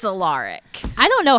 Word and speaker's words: Alaric: says his name is Alaric, he says, you'll probably want to pronounce it Alaric. But it's Alaric.